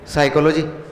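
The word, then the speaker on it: psychology: हूं ये क्या है, साइकोलॉजी। ये क्या है, साइकोलॉजी। अच्छा इसको हटा दिया तो अब तो देखिए ना क्या है, पी साइलेंट है भाई, साइलेंट है दिया क्यों, साइलेंट रखना तो दिया क्यों।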